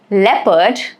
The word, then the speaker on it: leopard: Rule here is that it is silent in the combinations of EO and OU. Like examples of EO is people, leopard, okay, and examples of OU are tough, rough, armor, okay.